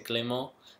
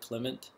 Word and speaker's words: Clément: Alors, une histoire de mon nom, c'est Clément, c'est un nom très français, mais ici les gens ne parlent pas français. Alors, ils prononcent mon nom comme si c'est en anglais, Clement.